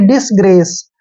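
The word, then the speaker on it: disgrace: एक की मात्रा पढ़ते हैं और सी का उच्चारण श करेंगे ग्रेस यानी कि डिसग्रेस डिसग्रेस होता है अपमान अनादर इसको हम डिसग्रेस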